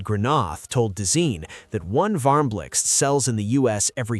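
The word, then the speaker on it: Varmblixt: The Varmlix, yes, that's how you pronounce it, is IKEA's donut-shaped lamp designed in collaboration with Dutch designer Sbine Marcelis.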